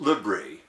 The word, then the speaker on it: LBRY: content sharing app called lbry pronounced libri thought they knew why